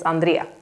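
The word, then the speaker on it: Andrée: I always say Andre but in Swedish it's Andrea that's my how I pronounce it so Andrea in Swedish not Andre um okay here is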